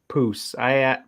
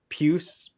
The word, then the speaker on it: puce: I think it's actually pronounced poos. Puce. Yeah, I'm sure it is. I asked Siri or whatever.